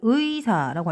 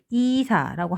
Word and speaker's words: 의사: 의가 첫 글자에 들어가는 겁니다. 그래서 의사라고 할 때는 의사라고 해주셔야 됩니다. 이사라고 하면 안 된답니다.